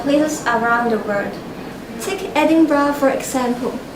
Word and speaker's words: Edinburgh: Take Edinburgh for example. You hear people say Edinburgh, but it should be Edinburgh.